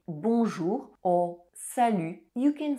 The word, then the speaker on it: salut: To say hi, you can use salut. Salut. Salut. Pay attention to the pronunciation of the letter U. It's U and not U. Likewise, the final T is silent.